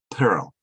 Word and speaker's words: peril: But this is peril. Per. Oh, so it's different from pearl.